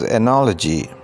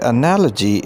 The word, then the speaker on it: analogy: Our today's word is analogy. The word analogy is pronounced with a ja sound, and it is not analogy, it's analogy.